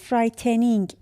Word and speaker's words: frightening: ببینید این رو نوشته frightening درسته ولی داره میخونه frightening.